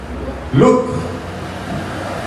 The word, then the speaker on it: Luke: Se parece a mirar, como cuando usted dice look. L-O-O-K, es look, es mira. Pero Luke es L-U-K-E, es de Lucas, Luke. Se pronuncia casi igual, pero la escritura es lo que hace la diferencia, ¿ven?